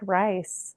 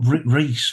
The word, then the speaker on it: Rhys: But for me, I still like rice. So I'm Yeah. like, you're It's wrong, just, I'm right. yeah, but Reese, the way it's spelled, that is a very old Welsh name, Reese.